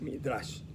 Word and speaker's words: Midrash: Ustedes la tienen ahí escrita, nada más no se pronuncia sin la H, aquí no aparece como Midrash, pero el nombre correcto es Midrash.